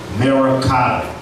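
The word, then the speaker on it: मरकत: And in Sanskrit, emerald is pronounced Merakata.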